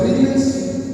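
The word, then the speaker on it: reel: en la mañana yo abrí y vi un ril de un predicador me llamó la atención le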